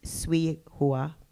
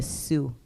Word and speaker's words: Sui Hua: I didn't mention this, but Lily's mom, her name is Sui Hua. People refuse to correctly pronounce it or even try. They would call her Sue.